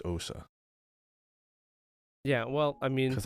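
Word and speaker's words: Ousia: If it was O-U-I, it would be pronounced we, because like, you know, French. But if it's O-U-S-I-A, it's just Osa.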